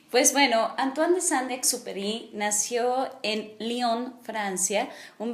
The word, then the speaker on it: Antoine de Saint-Exupéry: muy conocido que es muy conocida que es antoine de saint exupéry bueno pues no estudió francés pero así su puestamente se dice supuestamente así se pronuncia pues bueno antoine de saint exúpery nació en lyon francia un 29 de junio